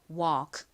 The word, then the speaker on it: walk: 볼게요 걷다 터 해보겠습니다 l 무음입니다 리을 받침 들어가지 않아요 해 볼게요 walk 좋습니다 한 번 더